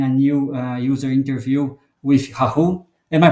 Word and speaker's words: Rahul: So today I'm conducting a new user interview with Rahul. Am I pronouncing it correctly?